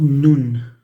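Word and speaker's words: ن: That's nun with the N sound.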